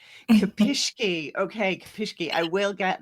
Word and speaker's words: Kopischke: Am I pronouncing it right, Ciena? That's okay. It's Ciena Kopischke. Kopischke.